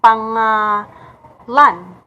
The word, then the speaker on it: pangalan: For example, pangalan. So the Americans are saying it or reading it as pangalan.